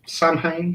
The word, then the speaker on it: Samhain: It's that's Samhain. Yeah. It's pronounced differently, but I know what you're talking about.